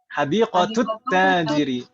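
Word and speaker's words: حديقة التاجر: Naam, karena syamsiyah. Bukan masalah tasydid atau enggak, meskipun tidak ditulis tasydidnya tetap syamsiyah ini bacanya. Karena huruf ta itu huruf syamsiyah kan Ibu ya, yang kita pelajari di bab 3 kemarin. Ta Iya, itu Ustaz. termasuk huruf syamsiyah. Nah, kalau misalkan tidak ada harokatnya sama sekali pun tetap dibacanya seperti itu.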